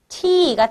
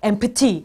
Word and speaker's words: empty: 원래는 발음이 empty가 되겠죠. 근데 p 소리가 거의 약해져서 잘 안 들려요. 그래서 우리 친구들은 empty 하지 말고 empty. empty라고 자연스럽게 읽어주면 됩니다.